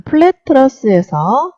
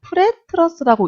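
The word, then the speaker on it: Pratt truss: 옳지 않은 것은 자, 지금 이게 플랫 트러스라기보다는 프렛 트러스라고 읽는 것이 좀 맞는 것 같습니다. 영어다 보니까 플랫이라고 쓴다고 뭐 틀린 건 아닌데 그래도 읽을 때 일반적으로 좀 프렛 트러스라고 봤으면 좋겠고요.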